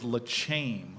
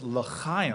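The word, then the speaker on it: L'Chaim: I thought it was Leame. What's Leame? The Lechame Society. And And actually it it I asked people, nobody knew what the Leame Society is. And and finally somebody looks at me and says, "Corey, that's word. It's Lim." And I'm like, "Is something caught in your throat?" And they said, "No, that's how you pronounce the word laam."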